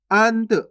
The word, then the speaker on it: अंत: अंत कैसे पढ़ेंगे? अंत। अनत नहीं पढ़ना आपको, अगर